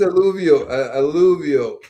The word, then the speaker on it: alluvial: And as for pronunciation, it's alluvial, I believe. Oh, yeah. Well, same to you. I know, Andy. Yeah, it's alluvial.